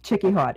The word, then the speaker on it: Chickie Haute: great cheeky hot right here is am i pronouncing your last name right yeah chicky hot h-a-u-t-e okay cause i i was i was